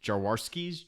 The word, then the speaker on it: Jodorowsky: made it, which was Dune, but it was Jodorowsky's Dune. Yeah. Yeah. Where I guess in Ron Jaworski, the former quarterback for the Eagles. No wonder it didn't get made. I think it's Jodorowsky. Just okay. Jodorowsky, yeah, sorry.